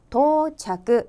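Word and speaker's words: 到着: 중 하나 인데 , 특히 첫 글자인 "do"( 도 , 도착 하다 ) 부분 에서 실수가 자주 발생 합니다 . 그러므로 " 도착 하다 " 라는 뜻 의 첫 글자는 "tou" 로 읽습니다 . 다쿠텐 은 없습니다 . 끝 에 "u" 를 붙여야 한다는 점 을 기억 하세요 . 따라서 "arrival" 은 일본어 로 "touchaku" 라고 발음 됩니다 .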